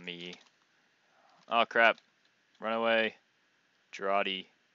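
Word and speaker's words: Jarate: Jarati. Or as I used to call it, Jarrite. I actually thought it was pronounced Jarrite.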